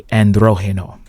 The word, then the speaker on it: Androgeno: Welcome to Club Androgen, aka Delirium, aka Androgeno. Okay, when you hear androgeno, that's the way the Latinos pronounce it.